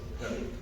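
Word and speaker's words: Ramirez: Ramírez se pronuncia Ramírez. Si quedan Ramírez, ya que importa, pero yo lo pronuncio Ramírez, pero no tiene tilde.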